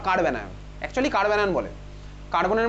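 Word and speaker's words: carbanion: লেখ কার্ব অ্যানায়ন, CARB, তারপর অ্যানায়ন, কার্ব অ্যানায়ন। কার্বো অ্যানায়ন বলে না, যদিও তোর প্রোনাউন্সিয়েশন দেখবি সবাই কার্বো অ্যানায়নই বলে, অ্যাকচুয়ালি নাম হচ্ছে কার্ব অ্যানায়ন, ঠিক আছে?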